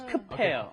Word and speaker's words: 급해요: Yeah, remember the pronunciation, that B up hits this H and it becomes 급해요.